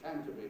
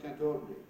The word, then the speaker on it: Canterbury: It's Canterbury, not Canterbury.